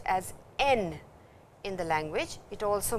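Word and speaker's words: 円: two horizontal bars on the stem and is pronounced as N in the language.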